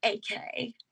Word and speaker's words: Eke: My last name is spelled Eke, and it's pronounced AK.